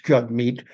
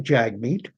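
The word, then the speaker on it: Jagmeet: If you've never if you don't know that it's jug meat and you just read it, it looks like jag meat.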